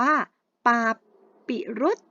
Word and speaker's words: ปาปิรุส: ร้อย คำ แรก ค่ะ อ่าน ว่า ปา ปริ๊ รุจ นะ คะ ปาปิรุส มหัศจรรย์ สคารับ